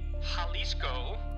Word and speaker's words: Jalisco: the disco or actually that's not how you pronounce it that was super white of me the Jalisco new generation drug cartel is responsible for new